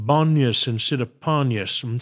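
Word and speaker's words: Banias: is known as banyas it is named after the Greek god of wine pan but the Arabs couldn't pronounce the P so they called it banyas and sit upon us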